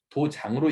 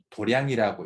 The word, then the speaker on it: 도량: 그 도장이라고 적어져 있는데 도장을 이제 절에서 할 때는 도장으로 읽으면 안 되죠. 도량이라고 읽어야 되죠. 마당 장자를 갖다가 절에서 량으로 읽어야지 맞습니다.